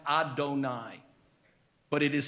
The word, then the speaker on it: Adonai: of the Divine in our sacred literature is pronounced Adonai but it is spelled yudhave of hey which